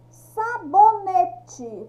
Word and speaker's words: sabonete: Sabonete. Quando eu falo sabonete, qual que é o som mais forte? Do bo.